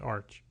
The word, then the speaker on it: ArCH: And it's pronounced Arch.